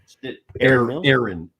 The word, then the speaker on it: Erin: Oh, Erin. Actually, it rhymes with Karen, but anyway.